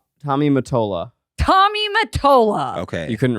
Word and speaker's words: Tommy Mottola: Tommy Mottola. Tommy Mottola. Okay. You couldn't read that? I didn't know how to say his last Do you name. know Mottola. Tommy Motorola.